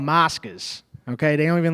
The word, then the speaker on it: Moscas: It's called Moscas, okay? Okay. They don't even let you in there with a phone. This is real Italian. Please. What's the What's the name? Moscas. Mascus. Moscas.